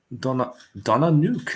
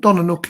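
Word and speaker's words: Donna Nook: I think that's how you pronounce it. Leconfield, but yeah. Donna Nuke, that's a new one for me. Right on. Donnanook is the right at the end of the Humber estuary.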